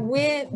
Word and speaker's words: wind: That wind, that D on the end of wind is very soft, wind. So we don't say wind, wind. So it almost sounds like it's not there and it rhymes with begin.